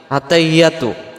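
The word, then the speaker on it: التحيات: আমরাদের উচ্চারণে আত্তাহিয়াতু আত্তাহিয়াতু আত্তাহিয়াতু হা জের হি ইয়ার পরে তাসজিদ আসছে এই তাসজিদটা সহ আদায় করার জন্য বলতে হবে আত্তাহি এমন আওয়াজ হবে আত্তাহিয়াতু আত্তাহিয়াতু আত্তাহিয়াতু ইয়া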